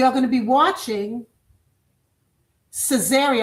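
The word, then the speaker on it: Caesarea: And we are going to be watching Cesaria. I'll spell it for you. C Ae S A R E A. Cesaria. Like Caesar, right?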